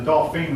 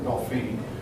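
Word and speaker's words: Dauphin: call you dolphin that the word is pronounced either dolphin or dolphine your book gives both pronunciations anyway King Charles was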